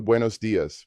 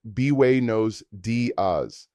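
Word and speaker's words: buenos días: Good morning translates to Buenos Diaz pronounced bway nose daz.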